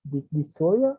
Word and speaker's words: dysuria: I have doubt with this pronunciation. Is dysuria? Dysuria? Or how is the pronunciation in English? Dysuria, it's okay.